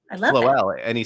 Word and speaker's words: Floele: It is Floele. Did you already say that? Did I miss that? Floele. I love Floele. And he said, as in flow well, which is perfect.